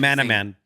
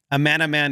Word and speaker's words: Amanaman: Sounds like Amanaman. Amanaman is his name. Sounds like his name, Adam Ant.